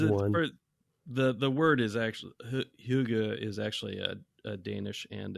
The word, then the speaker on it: hygge: but in Sweden, they have a thing called hygge, which Brett maybe hygge, I believe, Hygge. Yeah, okay, that's right. Yeah, it might be pronounced.